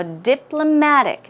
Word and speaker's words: diplomatic: and understand the meaning now diplomatic the stress goes right here as I've mentioned diplomatic